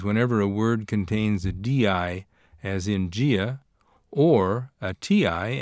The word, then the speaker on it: dia: This occurs in Brazilian Portuguese whenever a word contains a DI, as in dia, or a TI, as in chia, which means ant.